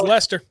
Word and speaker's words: Leicester: Lester Mass they're uh which by the way it's pronounced Lester but it doesn't look anything like it looks like like yesterday